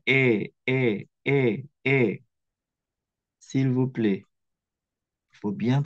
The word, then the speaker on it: aient: Ya, ini tuh AIENT itu disebutnya E, sama seperti je, tu, il, elle yang singulier. Tolong ya menjadi perhatian ya. Jangan sampai ayen, ayen, ayan. Bukan. Ini bacanya E.